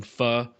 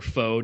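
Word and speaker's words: pho: So, I got I hope you got Vietnamese fans sending sending the Grizzlies some fu or foe, depending on your prefer preferred pronunciation.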